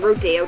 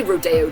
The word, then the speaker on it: Rodeo: In in Beverly Hills they say Rodeo Drive right that's how they pronounce it I know normally I would see that word with think Rodeo um these diamond encrusted